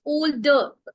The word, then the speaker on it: older: It's older. R is silent here, my dear.